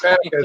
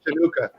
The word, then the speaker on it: Hanukkah: Rob's way of saying schmuck reminded me of Smokey Robinson trying to say Chinooka when he pronounced Hanukkah as Chinooka.